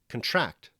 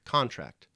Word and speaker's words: contract: word we're discussing contract can mean something else if you place the stress on it differently if the word becomes contract rather than contract to contract means to